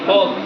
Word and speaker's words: folk: लोकगीतों को फोक song कहा जाता है अंग्रेजी में, FOLK, फोक, एल साइलेंट रहेगा, और सॉन्ग यानी गाने।